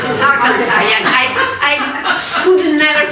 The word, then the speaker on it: Arkansas: Alabama, places like that, Arkansas, or how we pronounce it, Arkansas, yes.